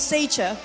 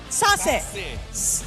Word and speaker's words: Sassy: to start off with Seicha. Why Seicha? Did I pronounce that right? Seicha? Seicha? How do you pronounce the name? Sassy. It's sassy, guys. Sassy. Not Seicha, it's sassy, okay?